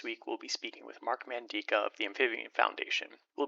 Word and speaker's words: Mark Mandica: and today we're going to be speaking with Mark mandika of the amphibian Foundation did I pronounce that right you did thank you excellent